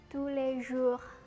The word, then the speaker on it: tous les jours: dengan orang ngomong dengan kata tous les jours bukan kayak gitu bacanya yang benar adalah Sule zul zul Lalu ada channel ini